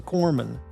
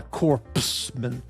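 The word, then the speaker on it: corpsman: And only an absolute imbecile who's not an American would not know that it's pronounced it's a corman not a corpseman.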